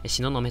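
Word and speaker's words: 東雲: 東に雲と書いて東雲と読むんですね。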